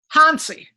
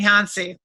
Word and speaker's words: Hansi: no your first name hansi okay yeah it's johnny in german actually it's like little hunts yeah my my grandmother